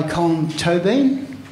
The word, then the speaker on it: Colm Tóibín: of course is this remarkable novel Brooklyn by Colin toin that is the correct pronunciation according to himself on YouTube and our